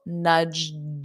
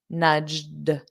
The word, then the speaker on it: nudged: Notice that pronunciation in the past simple, nudged, a soft D, nudged, nudged, nudged.